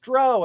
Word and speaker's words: drow: And they probably even knew that it's pronounced drow and not look, you, me, and Alan Hammock are gonna are gonna have us a talk.